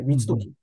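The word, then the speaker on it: 光時: 光る時と書いて光時。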